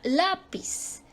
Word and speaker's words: lápiz: por ejemplo la parábola la palabra lápiz lápiz ahí cae la sílaba tónica lapiz pero se y se